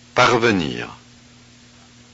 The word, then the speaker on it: parvenir: Are the underlined E's in words 1 and 2 pronounced? parvenir, lestement, The answer is yes.